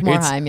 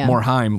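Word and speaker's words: Morhaime: Like Morheim, Morheim, like mime.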